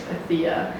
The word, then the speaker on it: Atiha: but mine is just a thea. You can aia. Yeah, you can pick. I guess I think it's meant to be pronounced aha because it's originally an Arabic name.